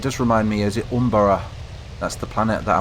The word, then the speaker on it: Umbara: Some of you, but it's not how you say it, it's Umbara.